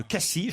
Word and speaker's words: Cassis: et des calanques de cassis je ne doit pas prononcer le s m'ont dit mes amis marseillais la dolce frégate provence